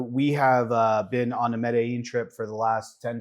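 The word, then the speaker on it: Medellín: And If you're going to move here, you're going to have to get the pronunciation right. Medellin.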